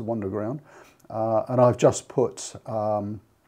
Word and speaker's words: Wunderground: So it must be pronounced Wunderground.